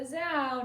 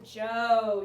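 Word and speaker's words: Zhou: time no not the zao not the zao you're close what is it it's the joe you're right you're pronouncing it wrong the joe all right and then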